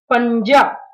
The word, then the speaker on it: पंजा: पंजा, यहाँ पर न्या जो है वो आधा उच्चारण ले रहा है, क्योंकि ज जो है वो च वर्ग का है, इसे हम पढ़ेंगे पंजा।